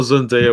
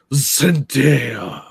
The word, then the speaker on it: Zendaya: When I saw Zendaya was in it, I was like, nah, I'm pass.